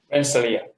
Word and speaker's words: Rensselaer: And then a postdoc at the, boy, help me out, Marshall, how do you pronounce that Polytechnic Institute? Rensselaer.